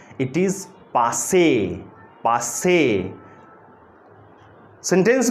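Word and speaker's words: passé: यूज किया जाता है, एंड the pronunciation of this word is पास, पास से, पास से, पास से।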